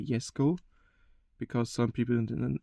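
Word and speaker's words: Jesko: 2020 Kunix Egg Sh Yesco, Chesco. I don't know how you pronounce it. I'm going to say Yesco because some people in the internet say you should the J pronounced like a Y.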